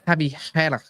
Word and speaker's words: Javi Guerra: What do they say? Javi Guerra. That's how they say his name, innit?